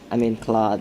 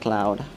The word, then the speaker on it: Claude: Have you guys used Claude, not Cloud.